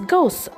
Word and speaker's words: ghost: Next we have ghost spelled as g h o s t and we pronounce as ghost. G O S T ghost and the sentence that we are getting is a ghost appeared in the old house.